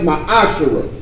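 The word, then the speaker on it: מעשר: and Malachi 3 8-10 means tempting in Hebrew and it's pronounced my Ashura attempt of every penny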